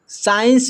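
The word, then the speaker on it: science: यहां पर लिखा हुआ है साइंस। साइंस में जो है सी साइलेंट है।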